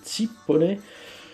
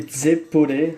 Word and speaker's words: zeppole: Donc ça s'appelle les tzipole ou les zeppole, ça dépend comment vous le prononcez.